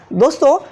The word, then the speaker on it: the: दोस्तों यहाँ पर देखिए दी, ये जो दी है